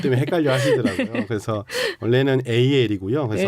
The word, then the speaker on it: AL: 아니면 AL이라고 읽어야 할까요? 많은 분들이 그것 때문에 헷갈려 하시더라고요. 그래서 원래는 AL이고요.